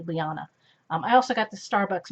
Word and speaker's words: Liana: near the Subscribe button but it's spelled l-i-a-n-a so it's hey hey lyanna I also got the